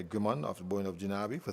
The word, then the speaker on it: Gajnabi: This is Jinabi. Gajnabi? I do say Gajnabi. That's the pronunciation, Gaj.